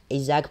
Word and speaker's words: IASC: So they are familiarly pronounced ISAC, so you can say ISAC on your way.